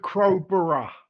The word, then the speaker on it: Crowborough: 27 men seeking asylum have arrived at Crowborough Training Center. Is that how you say it? Yeah, that's about right. Okay. I'll go with Crowborough.